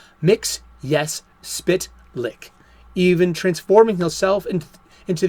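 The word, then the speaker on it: Mxyzptlk: 1990s animated series that his name is pronounced as saying the words mix yes spit lick even transforming himself into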